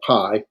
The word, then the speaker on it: pi: And so, and then the p or pi. Pi. Pi looks like a Greek pi or the symbol mathematical pi, right? So but it's pronounced as in P, as in pond.